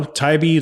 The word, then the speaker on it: Tybee: all of them say yeah I don't know taibi like of course why wouldn't you go to